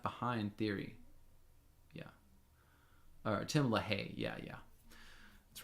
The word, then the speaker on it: LaHaye: Charles, you say they are such a joke, and it was Tim Leahy that introduced the Left Behind theory. Yeah. or Tim LaHaye.